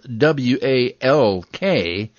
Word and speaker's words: walk: l tell me more i'm actually silent in some words when i'm followed by another consonant as in walk it's spelled w-a-l-k but it's pronounced walk